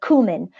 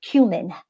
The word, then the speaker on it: cumin: spice and it was the cumin or or cumin whatever wherever you are in the States is how you pronounce it so the cumin it